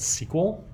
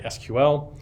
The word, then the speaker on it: SQL: our language it's called SQL some people pronounce that sequel you know some people just say SQL either is fine from me right tomato tomahto if